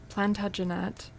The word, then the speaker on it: Plantagenet: Well, this one puts the emphasis on the second syllable. Plantagenet. I think probably if it's being pronounced in an English accent, the emphasis would be plantagenet, but maybe the more French is plantagenet probably.